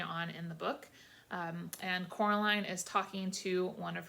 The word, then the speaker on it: Coraline: name wrong you know they kept saying coraline not caroline not caroline at all he picked up a milk